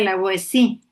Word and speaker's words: La Boétie: sí, la O Boétie, La de la Boétie Boétie, se pronuncia, en exacto, francés se pronuncia la Boétie.